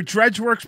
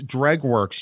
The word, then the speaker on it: Dregworks: a pro tip another dredge works pro tip lift with your legs it's dreg works you